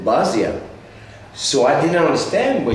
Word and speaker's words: Basia: London and play with Basha. And the funny thing was, in France we didn't pronounce Basha, we pronounced it Basia.